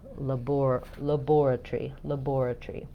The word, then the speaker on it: laboratory: The letter A in the first syllable is going to be a schwa in the British pronunciation. So where we have lab, they have laboratory.